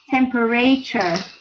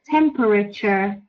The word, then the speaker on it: temperature: I noticed a common mistake with this word is to say temperature. That is not correct. The correct pronunciation is temperature. Temperature. We don't say temperature, okay?